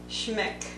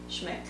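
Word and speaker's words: Schmincke: So this one here is Transparent Orange by Schmeck. I think that's how you say it, Schmeck.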